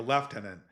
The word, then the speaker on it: lieutenant: ContraPoints would actually be a great lieutenant in an army, or as the British say, a lieutenant in an army.